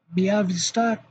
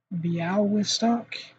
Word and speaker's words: Białystok: It's actually closer to Białystok, I don't know, Białystok, whatever that is, that weird L thing that does not. I think it just sounds like a W, right? Białystok.